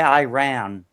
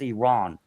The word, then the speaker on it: Iran: supremacy in Iran, and don't say Iran anymore. Just it's pronounced Iran.